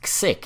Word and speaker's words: xiqk: And I'm pronouncing it sick, and you're not going to stop me.